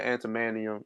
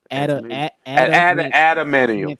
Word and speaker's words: adamantium: But tying in the antimanium. I mean, is that how you say it? Antimanium? Adamantium.